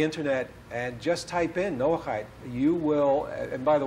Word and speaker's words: Noahide: go into the internet and just type in Noah hi you will and by the way you spell it n o ACH IDE okay I know ACH I D Noahide type it in and you're hopefully get a